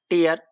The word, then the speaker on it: tear: TEAR टीयर, टीयर का एक meaning होता है आंसू और दूसरा होता है फाड़ना। उस सेंस में हम इसका प्रोनाउंसिएशन टेयर बोलते हैं।